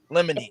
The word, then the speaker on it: limine: Excuse me, it's motion and limine. That's what it said. That's how you say it. Limine.